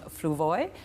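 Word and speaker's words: Fluevog: And these shoes are designed by John Fluvoy. I'll spell that F-L-U-E-V-O-G, John, in case you're shopping in Toronto or other places.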